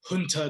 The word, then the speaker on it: junta: criminal click this this junta that exists and you know it's not junta it's junta but no government official apparently